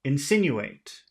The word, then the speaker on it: insinuate: what did the article insinuate? what did the article insinuate? Okay, is it insinuate or Insinuate, insinuate? insinuate, You make insinuate, you have to insinuate, okay, make insinuate, sin bigger.